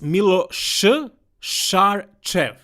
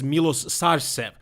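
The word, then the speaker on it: Miloš Šarčev: yeah by the way if you don't know how to pronounce his name it's Miller sure sure cheve so that's how you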